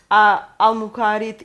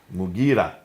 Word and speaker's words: Mughira: Sorry for the pronunciation. Qais. In Syria, Al-Muqarid ibn Shuba. Mughira ibn Shuba.